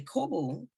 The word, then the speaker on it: Corbeau: And the Kobo is what we call it. The Kobo, or the Corbeau is spelled the French way, is in so many